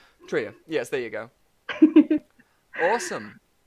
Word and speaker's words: Trejo: Trejo? Sorry, I mispronounced the name. I'm so sorry if I get any mispronunciations. Trio.